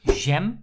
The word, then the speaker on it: jam: or jelly that is Gem so we use the French pronunciation and if you have